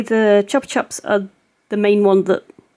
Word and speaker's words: Chupa Chups: And I just want to say something about the Chupa Chups. I've recently discovered that in America, it is pronounced Chupa Chups, whereas in the UK it's Chupa Chups.